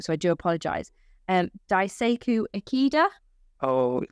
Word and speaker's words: Daisaku Ikeda: And they had a huge opposition with an SGI group specifically that was practicing, now I might pronounce this wrong, so I do apologize, Daisaku Ikeda. Oh, Daisaku Ikeda.